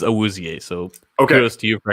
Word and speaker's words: Awuzie: The pronunciation is Awuzie, so kudos to you for actually getting that.